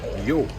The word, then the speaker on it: yo: Now, you know that in English, the first person singular is I. Okay, so in Spanish, it's yo. Yo. Notice I pronounce the O sound properly.